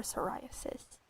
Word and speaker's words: psoriasis: Extra rare SSR psoriasis skin. There's a silent P in there for psoriasis.